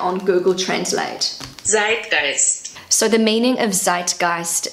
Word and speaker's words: Zeitgeist: My pronunciation is not perfect. So this is what it sounds like on Google Translate. Zeitgeist.